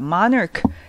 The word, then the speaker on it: monarch: Monarch. 여기 anarchy처럼 얘도 뭐가 있어요? CH에서 크 발음 나, 그죠?